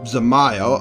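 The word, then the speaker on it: Dzemael: Zamael The D are is silent. Zamael are contributing to the restoration of Falcon's Nest.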